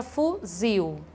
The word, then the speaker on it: fuzil: A palavra fuzil, também oxítona, a sílaba tônica dela é a última.